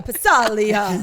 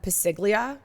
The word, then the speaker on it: Passaglia: is Chris called them pasiglia for years. Oh, that's right. I think as a joke. No, because he didn't know how to pronounce it. Well, it's Italian. The G is silent.